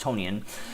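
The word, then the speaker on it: Tonyan: i've been pronouncing it's his name is apparently pronounced tonian i like toning a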